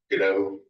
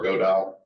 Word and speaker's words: Godot: It was originally made by Argentinians, so it should probably be the Spanish pronunciation, which would be Godot, but that doesn't roll off the tongue very well. And I feel like I've heard more people use sort of a French pronunciation on it and just drop the T.